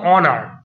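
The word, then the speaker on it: honour: হিসেবে অনেক কিছু পাল্টিয়ে যায় আগে যেমন বললাম অনার অনারটা হনার হয়নি অ উচ্চারণ হচ্ছিল বলে ভাওয়েলের ভাওয়েল নেই কিন্তু উচ্চারণটা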